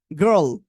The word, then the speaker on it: girl: আপনারা এটা উচ্চারণ করতে পারবেন আমার মতো? চেষ্টা করেন। girl, girl, girl.